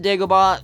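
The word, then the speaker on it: Dagobah: with an a not an e if you pronounce it daaba at least spell it d a g o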